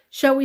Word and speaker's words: shall: The L becomes absolutely silent. Shall we say 5? Shall we? Shall we? Shall we say 5? Shall we say 5? Shall we say Tuesday? Shall we say Wednesday? Shall we say this afternoon? Shall we say tomorrow? So the L completely gets deleted. Instead of shall we say shall we? Shall we? The L gets deleted.